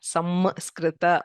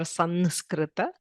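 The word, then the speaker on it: संस्कृत: Okay, samskrita or sanskrita. It is neither m nor n. Okay, it is called a pure nasal sound. That is, if you close both the teeth and just the air comes out through the nose.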